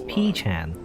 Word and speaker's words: P-chan: Oh, well, in Japanese it's not BP, it's P-chan.